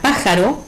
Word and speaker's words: pájaro: Por ejemplo, en la palabra pájaro, que es una palabra de 3 sílabas, ¿sí?, la sílaba tónica es pa. Al ser la antepenúltima y como es una palabra esdrújula, le ponemos la tilde gráfica.